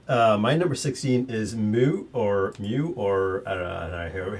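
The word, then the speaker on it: Mü: go for it uh my number 16 is Mu or me or how you're supposed to pronounce it is it it's German yes me it's in the box and more and more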